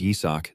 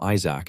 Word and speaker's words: Yisak: Even though his name is Yisak, these guys always pronounce it wrong and call him Isaac instead.